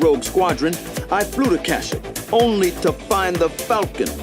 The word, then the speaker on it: Kashyyyk: slaver Peck had escaped on a Kashyyyk is how you transport with a pronounce it.